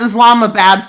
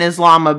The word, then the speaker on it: Islamabad: Everyone's incompetent as Islam bad falls. And I know it doesn't say Islam is bad. Also, don't take that out of context. I mean, Islamabad bad. I just said it wrong because I can't speak.